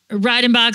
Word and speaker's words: Reidenbach: Am I pronouncing that right? Yes, thank you. Okay, good. I was like, uh-oh. Reidenbach Law.